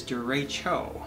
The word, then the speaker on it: derecho: over the years but as Kayla has instructed me it is De Rachel of course I might be also saying saying it wrong maybe dad's been right all this time but I learned to Rachel so apologies up front so duracho derecho I think so so that's what